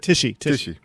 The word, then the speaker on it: Tichy: You played on with Michael Sweet, George Lynch, yourself, and then reunited with Brian Tichy, or Ticky. How you say it? Tishy.